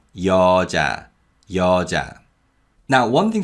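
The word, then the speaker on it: 여자: word means a woman the first syllable uses ian and the vowel ya and the second syllable uses the consonant and the vowel so it's cha cha so this is yo ja yo ja now one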